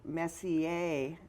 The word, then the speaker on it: Messier: It is the Messier Marathon. I'm just guessing on the pronunciation You got there. it. You got it.